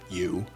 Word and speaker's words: Eu: James' AI, which was named you, spelled EU, but pronounced U, had now become more than a chatbot.